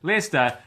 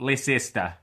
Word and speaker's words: Leicester: in fact now know that it is leer not Lester uh so that's good